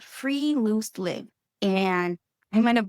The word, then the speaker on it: friluftsliv: So how do you go about pronouncing this Norwegian word? Friluftsliv. It's how it's pronounced, correct?